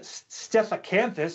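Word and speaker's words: Stethacanthus: known like stiff cancer stefacanthus see even a professional paleontologist has trouble with these names so don't feel bad for yourself so the cancer fit to fit says i said it right earlier steph canthus was a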